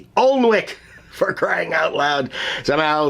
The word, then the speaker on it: Alnwick: you know how the British Isle folks like names with lots of letters that they don't pronounce. Yeah, like Alnwick Castle. Do you know how to spell Alnwick? A-L-N-W-I-C-K. Alnwick, for crying out loud.